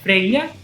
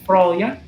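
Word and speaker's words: Freyja: No islandês moderno é Freya, no nórdico antigo Froya, mas nunca Freya, porque não é uma sílaba tônica.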